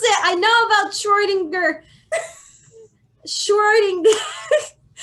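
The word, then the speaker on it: Schrödinger: do it sure sure give me a second shorting dirt I know how to pronounce it I know about Schrodinger destroying this pronunciation I love Google Schrodinger congratulations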